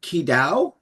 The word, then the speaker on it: Qi Dao: He is the holder of the lineage of Qi Dao. Am I pronouncing that correctly? Qi Dao.